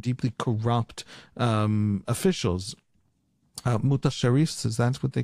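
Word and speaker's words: mutasarrif: Uh mut sharifs. Is that what they call the uh the governors? How's it how do you pronounce it? Mutasarif. Mutasarif.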